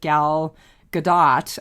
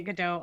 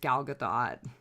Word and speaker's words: Gal Gadot: The one that's being remade with Gal Gadot. I didn't realize it. I've been mispronouncing her name all these years. It's Gal Gadot. It's not Gal Gadot. I've been pronouncing it Godot also.